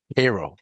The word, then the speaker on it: Cairo: So the story you're referring to is Cairo, Illinois. That's how you pronounce it, Cairo, Illinois.